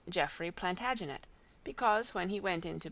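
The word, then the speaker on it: Plantagenet: The Latin name for broom is plant janista and gradually it came to be pronounced plantaginet.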